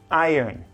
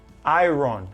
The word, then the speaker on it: iron: own man the superhero it's not I wrong it's iron you're gonna say I let's separate in two syllables I earn okay you're say I earn I earn say it fast it's gonna be iron so that's the that's